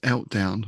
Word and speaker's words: Eltdown: And actually, I have to say, one of my first thoughts with this and poetry was Eltdown rhymes with meltdown.